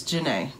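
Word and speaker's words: Johnnea: But no, it's Janae. Janae. Simple as that. It's spelled weird, though, because Janae is spelled J-A-N-A-Y, but hers is spelled J-O-H-N-N-E-A. So, yeah.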